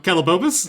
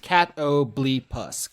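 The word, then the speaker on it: catoblepas: I posted a picture of it, and then Austin rejoined the call on cattlebopus. Cattlebopus. Yeah, the Oxford English Dictionary says it's pronounced catoblepus. Catoblepus.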